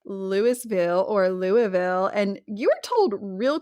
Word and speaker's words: Louisville: But my favorite moment of you being on this show was actually just last year in Louisville. Louisville Louisville, Kentucky. How you say it like that?